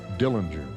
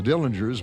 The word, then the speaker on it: Dillinger: was born John Herbert Dillinger family always pronounced the name with a soft G his mother died when